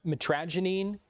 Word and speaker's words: mitragynine: The active ingredient the active compound mitragynine, am I pronouncing that correctly?